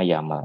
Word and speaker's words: YAML: Dibacanya YAML ini.